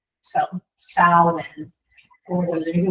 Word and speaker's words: Samhain: mispronounce it Sam Hayne.